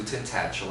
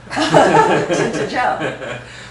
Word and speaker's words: Tintagel: times at least, to Tintagel. Am I saying it correctly? I used to say Tintagel, but that seems like a gel you put in your hair. Tintagel. Tintagel.